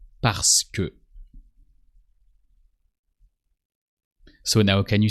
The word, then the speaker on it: parce que: Parce que. So you write it parce que, but in spoken French, you skip the middle E.